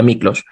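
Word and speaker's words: Miklós: Mi padre es húngaro, mi madre es peruana, y Miklos, se lee Miklos, pero se pronuncia Miklos.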